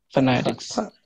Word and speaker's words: phonetics: আর একটা জিনিস বলি, পিএইচ ইকুয়াল টু ফ, আপার টিথ লোয়ার লিপ, ফ উপরে দাঁত ঠোঁট, পিএইচ, হ্যাঁ। Phonetics.